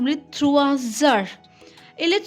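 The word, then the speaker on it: trois heures: Il est 3 heures, combined it will be z. It's 3 and it's heure, but combined the pronunciation will be 3 heures.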